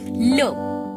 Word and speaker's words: le: Lo. Lo. L-E is pronounced as lo in French, which is basically used before the masculine singular.